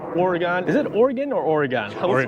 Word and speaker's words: Oregon: Is it Oregon or Oregon?